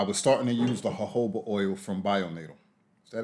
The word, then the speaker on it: jojoba: focus on the jojoba a lot of people um pronounce it jojoba but it's actually jojoba so as i said